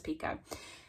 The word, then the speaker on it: Picoult: I never know how to pronounce this. The audiobook says Pico.